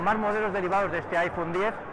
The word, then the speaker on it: iPhone X: Pronunciado 10, tenemos la duda de si va a ser iPhone 10 o iPhone X, pero parece que es iPhone 10.